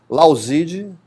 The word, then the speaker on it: Lauzid: Lauzide, se escreve Lauzid, de mudo, né?